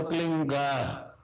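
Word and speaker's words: क्लीं: की मात्रा और बिंदी उसका उच्चारण होगा क्लिंग की ले पीछ आप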